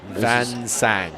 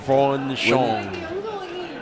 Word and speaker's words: Van Sang: Van Sang. Oh, Van Sang. Von Shong was told. I'll be corrected and I'll say it properly tomorrow, but for the last time tonight, Win Van Sang.